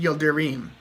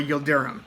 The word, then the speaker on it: Yildirim: Super-Middleweight 168-pound titles against Avni Yildirim, or Yildirim. I've heard both pronunciations.